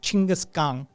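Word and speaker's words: Genghis Khan: would like to present genas Khan which I believe the closer pronunciation is something like chingas gang something it's in that territory I've heard it pronounced correctly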